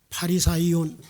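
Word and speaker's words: Φαρισαίων: 사람이 있으니 유대인의 지도자라 헬라어 바리새인이라고 하는이 단어를 이렇게 발음이에요 바리사이온 바리새인 바리사이온 이렇게 발음합니다 이 바리사의원이 이스라엘 가운데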